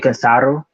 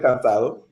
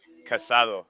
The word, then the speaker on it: cansado: A lot of people who are just learning Spanish, they pronounce the tired like uh, casado, which means married.